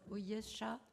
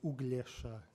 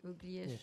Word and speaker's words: Uglesha: Ujesha? It is difficult, yes. So it's Uglesha. You pronounce the G, Uglesha.